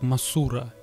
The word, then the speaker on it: Мотра: группу будет в описании мотра в оригинале произносится как масура гигантская бабочка наиболее часто